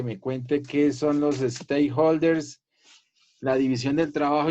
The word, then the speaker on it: stakeholders: Se pronuncia stakeholders, stake.